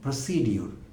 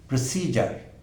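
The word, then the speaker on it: procedure: আমরা ইংরেজিতে ব্যবহার করি, আর উচ্চারণ করি শব্দটির প্রসিডিওর। আসলে এই শব্দটি ইনকারেক্ট, আমরা এটি স্পেলিং প্রোনাউন্সিয়েশন করবার চেষ্টা করি বানান দেখে। আসলে ডিকশনারির শুদ্ধ উচ্চারণ হলো প্রসিজার। ভেবে দেখুন, অনেক পার্থক্য কিন্তু, প্রসিডিউর এবং প্রসিজার। তাহলে শুদ্ধ উচ্চারণটি হলো প্রসিজার।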